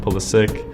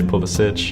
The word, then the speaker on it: Pulisic: it pulisic or polysich as far as I know CP pronounces his name pull the sick so why does literally half of the English media say povasich pulisic is how I grew up and being in the states that's just how I'm used to it and that's how I've always said it myself but pulisic is technically the Croatian pronunciation so that's why it is correct so I'm actually okay